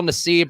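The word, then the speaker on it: Nassib: is pride month and carl nesib or carl nassif i think is actually where you pronounce it i feel like it should be necev to give a little more color but he came out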